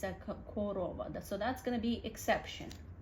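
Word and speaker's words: корова: But when we pronounce it, even O's kind of sound like A sound, korova. Some people say korova, but that's very rarely. It's more like original dialect. Most people blend it to korova, and you have to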